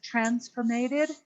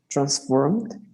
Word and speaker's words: transformed: there and instead of transformated instead of transformated anyone transformed transformed transformed instead of transcribing this is a very spanish speaker thing to add more syllables into words like that okay but transformed instead